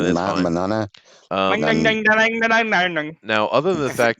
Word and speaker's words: Mignogna: How do you pronounce his name? Vic Mignogna. Mignogna. Mignogna. All right, that's fine. Manana.